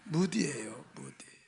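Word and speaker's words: Moody: 발음 잘해요. 문댕이 아니에요. 무디예요.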